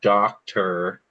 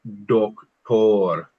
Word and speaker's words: doctor: So it's not doctor, it's doctor.